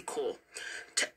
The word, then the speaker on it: Corps: what does it do and when we say core here it's the French word spelled c o r PS um so tell well pronounced well pronounced a challenge cops cops yes I know cops is a dead